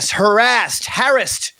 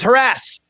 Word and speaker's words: harassed: I've been, harassed is how it's properly pronounced these days. In the 90s, it was harassed.